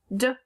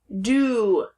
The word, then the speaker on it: do: If I was to say it the way it's pronounced, da. No. The O says ooh, do.